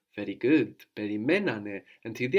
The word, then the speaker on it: περιμένανε: But when we have two syllables, when we're adding two syllables on the end, then we don't need to move the accent. Actually, in the past, we want the accent third from the end, and it's already there when we had two syllables.